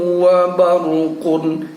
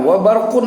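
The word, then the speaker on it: وَبَرْق: Namun karena bertemu tanda wakaf, maka cara membacanya adalah wa ra'dun wa barq. Kita tetap mematikan wa barq, tapi pada ujungnya suara q-nya itu kita yang bisa mendengarnya sendiri dengan bunyi wa barq.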